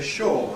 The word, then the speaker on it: sure: We can say sure, are you sure? Or we can say sure, are you sure?